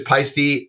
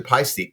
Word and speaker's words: Paiste: Go back to Paiste. P-A-I is pi, not P or P-I-E.